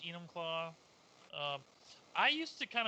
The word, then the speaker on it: Enumclaw: Netflix special on the human claw forced Mr hands Mr hands what that might have been done yeah I mean first of all it's pronounced Enumclaw um I used to